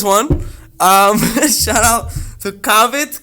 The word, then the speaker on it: Cavit: um shout out to cavett cavite as my mom would pronounce it made in italy of